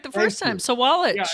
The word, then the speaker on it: Sawalich: so, our guest is going to be William Soualiji. Um did I I mess that up? Did I? William Soualiji. How do you pronounce it? Soualiji. That was good. You said it right the first time. Soualiji.